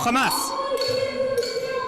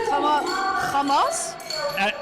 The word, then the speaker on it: Hamas: No, the cha is kind of like a giveaway on what side you're on. A giveaway? Yeah. That's what they say. Hamas.